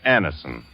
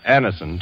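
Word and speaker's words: Anacin: You who have received Anison this way know the effective, incredibly fast relief these tablets bring.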